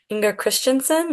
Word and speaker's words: Inger Christensen: the Danish poet iner tell me if I'm pronouncing this wrong Inger Christensen right that's how I say it okay and how his